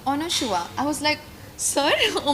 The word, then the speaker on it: Anasua: तो करण जौहर ने बोला था कि अनुशुआ.